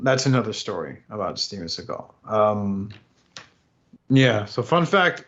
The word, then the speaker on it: Seagal: ] wild man so steven seagal is known as steven segal his real pronunciation of his last name is steven seagal according to his mother so here we go